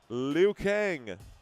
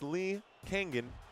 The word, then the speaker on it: Lee Kang-in: Liu Kang. It's not like Mortal Kombat. It's Lee Kang-in.